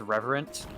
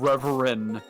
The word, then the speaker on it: reverent: we weren't we weren't pronouncing the T at the end of reverent. They're like, "Why are you guys saying reverend? Like, you guys don't say it right. Do it right."